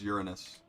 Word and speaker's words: Uranus: Yeah, it's Uranus. That's how it's scientifically pronounced.